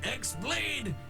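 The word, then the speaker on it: χ-blade: was destroyed means the x-blade it's just pronounced like keyblade even though it's just one keyblade ah the series is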